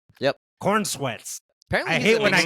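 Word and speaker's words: Corenswet: Yep, Cornsweets.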